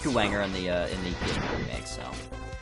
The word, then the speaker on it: Kuwanger: It might be Kuwagna. No. It's pronounced Kuwanger in the PSP remake, so...